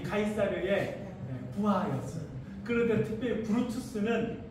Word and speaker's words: 카이사르: 우리는 카이사르라고 부르고 영어식 발음은 시저입니다.